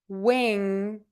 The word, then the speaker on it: wing: Wing when when when some people in the U.S do make a very hard G sound on Wing um but some people don't so it's kind of good to know the more precise um version which is just that one sound NG versus that extra puff for that g sound at the end that some people do